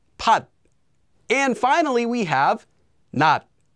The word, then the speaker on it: 받: It doesn't become pat, just pat.